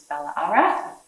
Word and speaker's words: Ballarat: And Ballarat as well, I don't know if you guys know this, but the reason that we have the double A in Ballarat is because the original Wadawurrung pronunciation is Ballarat.